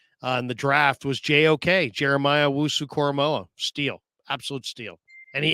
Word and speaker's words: Jeremiah Owusu-Koramoah: And you notice that Okoro, pronounce that for me one more time, Larry. I'm going to get that. Jeremiah Owusu-Koramoah.